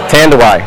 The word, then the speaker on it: Tanduay: the name itself uh how do you pronounce it tanday easiest way to remember is why tand why and then you say cuz it's a great rum that's why so with that said